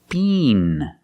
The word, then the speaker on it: bean: And the next word is bean, with a long E sound.